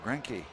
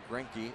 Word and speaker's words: Greinke: Greinke trying to improve his record. Is that how you pronounce it? Zach Greinke, yeah.